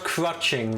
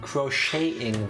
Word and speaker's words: crocheting: really uh crouching no it's still not crutching whether something entirely different crocheting the tea is silent we also wanted to